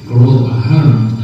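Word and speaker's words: Gearóid Ó hAllmhuráin: host, and this is Garol O'Halloran. And if you can't pronounce that complicated long Irish name that you have to see, O'Halloran will have to do. But he's Garol, so there you go.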